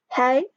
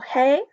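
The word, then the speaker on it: hej: in the classroom so hello in Swedish this is pronounced hay or hay and ya all use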